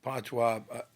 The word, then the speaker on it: patois: Okay, you mentioned patois. Is that how you pronounce it?